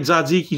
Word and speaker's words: tzatziki: runny tzatziki sauce and if you can't say it right zodziki just don't say it man cause i